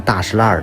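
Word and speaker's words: 大栅栏: 修了很多大栅栏，也许是北京人发音念字比较特别，大栅栏、大石烂就叫成大石烂了。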